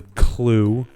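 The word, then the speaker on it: clew: of worms is called a clue which sounds normal a clue a clue until you uh get to uh until you spell it it's c ew and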